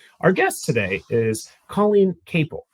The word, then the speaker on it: Capel: Our guest today is Colleen Cable. Rhymes with staple.